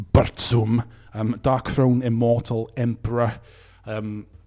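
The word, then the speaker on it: Burzum: i'm talking about bands of course like mayhem bears um correctly pronounced bertsum um darkthrone immortal emperor um these formed the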